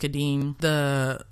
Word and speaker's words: Kadim: service to know Kadim, I think his name is pronounced Kadim, her mistress's future husband,